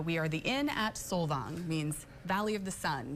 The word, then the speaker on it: Solvang: It's spelled like Solvang, yeah, but I'm contractually obligated to say Solvang because I work for Norwegians, and it has been in the home.